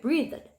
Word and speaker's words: breathed: 그런데 요거는 발음이 조금 이제 어려울 수가 있어요. 그래서 이거는 발음을 breathed. 그럼 여기서 the는 발음이 여기 과거를 만드는 요 d 끝발음 같은 경우는 좀 약하게 이렇게 해주셔야 됩니다.